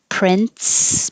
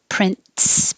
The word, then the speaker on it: prince: air like a t that's why there's no difference between prince p-r-i and c-e and prince p-r-i-n-t-s someday my prince will come prestigious or some people